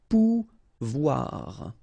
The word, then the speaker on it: pouvoir: sound OU, okay, and when you combine this O and I here, you get the sound OUA, okay, so pouvoir, pouvoir.